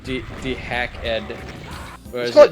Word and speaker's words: DeHackEd: I always say it's like dehacked. dehacked. Hacked. Dehacked. They're hacked. Yeah, I hacked. I ignore the capitalization and just read the word.